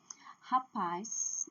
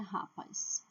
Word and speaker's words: rapaz: Rapaz, não é rapaz, é rapaz, capaz, sagaz, fugaz. A última sílaba é forte por causa do Z.